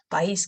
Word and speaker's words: país: Okay, país, country. País. No, we pronounce both of them separately. País.